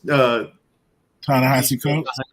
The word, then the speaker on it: Ta-Nehisi Coates: I don't know how to pronounce the brother's name. Coates. Ta-Nehisi Coates.